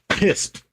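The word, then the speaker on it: piste: P i s t e. Is that our word of the day? Pissed. Pronounced pissed.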